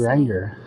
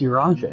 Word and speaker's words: Urianger: Might more permanently I thought it was Urianger. But it's Urianger.